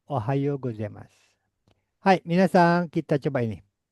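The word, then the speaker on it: おはようございます: Ohao gozemas tulisannya Ohayo U. O U dibacanya O. Ohayo gozemas.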